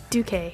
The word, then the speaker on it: Duque: Duque. Duque.